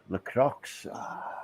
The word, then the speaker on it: Lacroix: Lacroix. That's the way I would pronounce it.